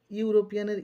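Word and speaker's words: European: ইউরোপিয়ান একই রকম ভাবে ইউরোপিয়ানের ই টা কিন্তু ভাওয়েল কিন্তু ভাওয়েল থাকা সত্ত্বেও শুরুতেই ওয়ার্ডটির শুরুতেই ইউ উচ্চারণ হচ্ছে ইউরোপিয়ান ইউ সেজন্য ইউ সাউন্ড হওয়ার জন্য ওয়ার্ডটির শুরুতে এ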